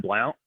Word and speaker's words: Blount: as this prodigy is jeb blount or jeb blunt it's spelled like blount um he wrote a